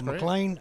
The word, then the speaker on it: McLain: i'm from scotland so my name is spelled m-c-l-a-i-n so you know don't americanize it but it's uh mclean you can find me